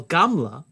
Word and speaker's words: gamla: A small insect like a louse or weevil is galma in Aramaic, while gamla is how you say camel.